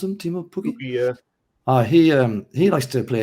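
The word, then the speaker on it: Teemu Pukki: Their guy, Timo Pukki, is that how you pronounce him? Timo Pukki?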